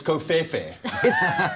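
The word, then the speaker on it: covfefe: No, it's Kofefe. Bro, it's Kofefe.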